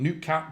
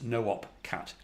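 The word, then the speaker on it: noopkat: the name of well i pronouncing newt cap but i think really it's no op cat no up being you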